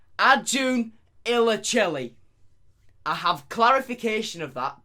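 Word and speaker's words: Acun Ilıcalı: actually pronounce his name so turkish media tycoon pronounced arjun illachilli i have clarification of that by the way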